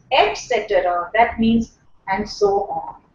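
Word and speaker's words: et cetera: etc etc sentence etc extra extra etc the the correct pronunciation is eta etc.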